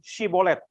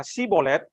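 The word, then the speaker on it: shibboleth: maka mereka berkata kepadanya, coba katakan dulu Shibolet. Jika ia berkata Sibolet, jadi tidak dapat mengucapkan tepat, maka mereka menangkap dia dan menyembelihnya dekat tempat-tempat penyeberangan Sungai Yordan itu. Pada waktu itu tewaslah dari suku Efraim 42.000 orang. Artinya 42.000 orang ini mau tipu. Mau nyebrang, bilang bukan, dites. Bilang Sibolet. Dia nggak bisa. Dia bilangnya apa? Sibolet. Oh salah, ini tipu ini.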